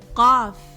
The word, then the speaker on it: قاف: قاف قا قا, like the English letter Q, but produced from much further back the throat and much darker, like this.